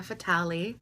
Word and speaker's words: Fatale: I can tell you one thing it's not fatali my name is not fatali it's fatal you can say fatal or